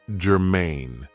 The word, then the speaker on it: germane: So, the first adjective I have for you is germane. Now, this is 2 syllables, and the stress is on the second syllable, germane.